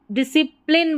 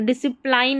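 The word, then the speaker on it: discipline: को सी डिसी डिसी अब डिसिप्लिन बोलेंगे डिसिप्लाइन नहीं पढ़ना है।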